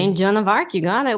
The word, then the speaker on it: Joan of Arc: Joan D'Arc. Did I pronounce that correctly? St. Joan of Arc, you got it. We throw a fancy D in there every now and then.